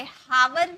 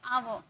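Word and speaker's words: hour: हम स्टार्ट किए ऑनेस्ट आव आव बोले हावर नहीं बोले आव ऑनर हनर नहीं बोले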